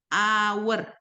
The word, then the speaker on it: hour: Cara bacanya gimana? Hour, hour gitu ya. Jadi karena cara bacanya vowel a, hour, huruf hidup, maka ini jadinya an hour.